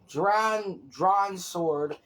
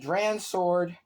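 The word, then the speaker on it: Dran Sword: The stadium comes with Drawn Sword. I totally pronounced that wrong. The stadium comes with Dran's sword.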